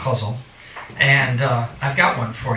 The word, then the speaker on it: ghazal: It's actually pronounced ghazal.